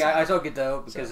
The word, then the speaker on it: Gadot: It is Gadot. It is Gadot. It is Gadot. Yeah. I heard someone say Gadot one time, so I'm thinking. Yeah, that's what I'm saying. I saw Gadot because it's like she's Gadot.